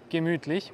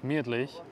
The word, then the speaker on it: gemütlich: Now in German it's usually gemütlich, which means comfortable. But in Vienna we say gemütlich.